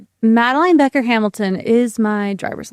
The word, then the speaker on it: Madeline: Mattaline. It's always Maline. Even if I introduce myself to someone, I shake the hand. I say, hi, I'm Maline. It's repeated back, Matteline.